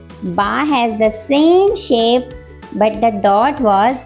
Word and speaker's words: ث: Today's new letter is sa. Everyone say it with me. Sa sa. Its sound is s. And you will pronounce it like sa. Okay. Put your tongue between your teeth like this.